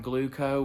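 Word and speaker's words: Glooko: All right, like I said in the intro, I'm going to touch on Gluco, which is the diabetes data technology or software that Omnipod is using. It's spelled Gloooko.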